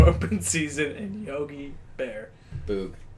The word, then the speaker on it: Boog: Boog. Boog. Boog. Oh yeah, that's how you say it.